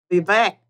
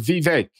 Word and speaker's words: Vivek: and I liked Rhonda Sanchez uh with uh be back how do you pronounce her name babek uh I think he says Vivek be back be back okay well with him